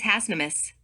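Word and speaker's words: Hasnamuss: path of the hasanamusan this word is plural the singular pronunciation is hassnamus this order of concomitances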